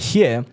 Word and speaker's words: Hur: Is it pronounced as her or who? Her. Her.